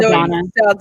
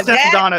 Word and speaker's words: Saldana: I think I pronounced her right. Saldana. Oh, yeah, Saldana.